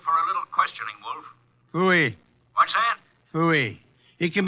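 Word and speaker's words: pfui: Phooey. What's that? Phooey. It can be spelled in several ways. I spell it P-F-U-I.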